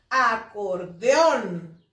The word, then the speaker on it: acordeón: Por ejemplo, acordeón. ¿Cuál es la sílaba tónica? Acordeón. On, ¿verdad?